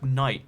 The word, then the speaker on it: knight: Like, did you know the word knight with a K? The K didn't used to be silent, it used to be knight.